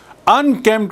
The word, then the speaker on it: unkempt: Unkempt, I told you, अस्त व्यस्त. अस्त व्यस्त है, unkempt. You note the spelling. U-N-K-E-M-P-T. P is silent.